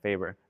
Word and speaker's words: FABER: Yes, Faber.